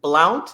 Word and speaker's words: Blount: We also have, and I'll probably pronounce his name incorrectly, Harrison Blount.